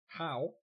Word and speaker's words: Bo: Bo, pronounced Po, means wave, so HurricaneBo means hurricane wave. Ah. Nice insights. Still don't know. I think what he's trying to say is it's poo, right? Poo? Like poo? Oh, yeah, two. Yeah. Like two, but with a P, so poo.